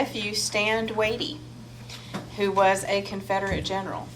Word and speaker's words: Watie: Stand Watie. Watie. That's the way I have been told to pronounce it.